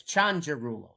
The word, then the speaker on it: Cianciarulo: Well, it's in Italian. It's Chanjeru.